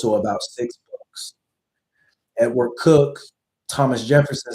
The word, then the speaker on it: Coke: Edward Cook is spelled Coke, like Coke, but it's pronounced Cook.